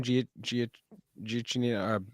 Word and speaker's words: Giacchino: Giacchino. How do you Ganacchio?